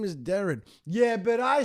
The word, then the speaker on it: Deron: point guard derone Williams actually his name is Darren yeah but I say derone well you you say it wrong oh